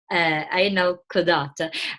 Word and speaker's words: Ayn al-Qazat: But I found I'm really shy about pronouncing the name of the Ayn al Quazat. Thank you. Ayn al Quazat.